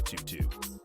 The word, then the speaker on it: 22Gz: from the name of tutu's first mixtape he then continues with two two gone free shots i ain't even have to aim tutu is how to gzz's name is pronounced this name combines many